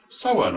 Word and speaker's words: Samhain: It is pronounced Samhain in Ireland and Samhain or San in Scotland.